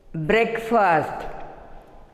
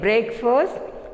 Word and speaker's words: breakfast: Next, B-R-E-A-K-F-A-S-T, breakfast. We should not say breakfast, it is breakfast, breakfast.